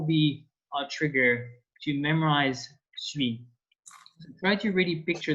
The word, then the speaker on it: suis: And to be for I, it's pronounced suis.